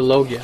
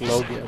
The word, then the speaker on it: Logia: even though he's a Logia, and they, like, mispronounced Logia. They said Logia, but in, like, every English version, and I'm pretty sure if you listen to the Japanese version, they say Logia.